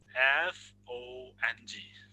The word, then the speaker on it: fong: As you do, as you do in English, but we say that in the Teizang song, like F-O-N-G. How do you say? Phone. Yep. No. Fong. Okay. Fong with a rising voice.